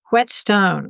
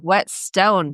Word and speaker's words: Whetstone: Whetstone. Whetstone.